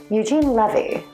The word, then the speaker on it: Eugene Levy: Eugene Levy is how you pronounce his name.